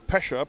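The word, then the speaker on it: Pejsa: Drew Pesha. P E J S A is his spelling of his last name pronounced Pesha.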